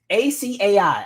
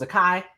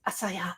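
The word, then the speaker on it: açaí: It's ACAI. I say it wrong every time. Acai or whatever. I thought it was a kai.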